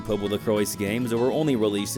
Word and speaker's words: PoPoLoCrois: I did think it was Popolocrois initially, but I believe even the game pronounces it as Popolocrois, so yeah, Popolocrois it is.